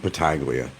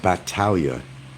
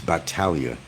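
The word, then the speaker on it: Battaglia: world is against bataglia and by the way that's not my name the last name is pronounced Batalia it's not bataglia it's battalia just to let you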